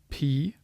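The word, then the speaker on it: π: o is in not P don't be confused here this is technically pronounced as you would say this letter P as English speakers were used to calling this Pi but this is really P capital P looks like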